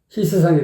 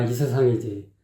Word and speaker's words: 이 세상: 그게 안 되니까는 아래에서 했던 톤으로 높은 음을 내려고 하니까는 톤이 변하지 않으니까 희세상이 돼버리는 거야. 희세상이 발음이 희세상 아니라니까. 희세상이 아니야. 이세상이지.